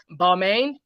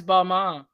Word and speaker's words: Balmain: And it says here, Lizzo is wearing Balmain. Is it Balmain or Balmain? I always get it confused. Balmain. I always go Beaumont. Balmain. Okay, I gotta say it like I'm French.